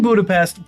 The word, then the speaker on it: Budapest: And before anybody says it's actually Budapestt, that's how they pronounce it in Hungary. I'm in America. I speak English. I pronounce it Budapest. It's an accent thing.